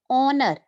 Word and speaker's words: honor: Honor. We pronounce it as honor. You have to keep in mind these three words are honest and honor. In these three words, H is silent.